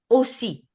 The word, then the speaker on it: aussi: Je m'appelle aussi. That's the also. Aussi. Okay. So whenever double letter is together, we have to just stress on them.